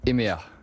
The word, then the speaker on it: hemea: ce soir ouais on va s'appeler emea donc on ravis de nous accueillir et s'écrit donc h e m e à quand on voit écrit comme ça on ne sait pas trop comment le prononcer mais en fait quand